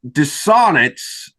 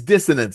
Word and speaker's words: Dissonance: dystopian science fiction series dissonant did I pronounce the name of that series correctly uh it's dissonance that's the one okay dissonance